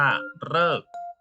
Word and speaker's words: ฤกษ์: เอะอะ ที่ นี้ มา ดู การ ออก เสียง แบบ ที่ 3 จะ ออก เสียง เป็น เลอ ตัอ รอ ๆ มี อยู่ คำ เดียว มี คำ เดียว คำ ว่า ฤกษ์ ฤกษ์ คำ เดียว นะ โลก จำ ง่าย มี อยู่ ครั้ง เดียว ที่ ออก เสียง เป็น สระ เออ ออ่าง รอ ออ กอ